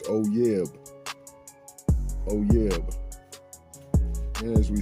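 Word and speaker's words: אוֹיֵב: And the pronunciation of that Hebrew's word 341 is oyeb.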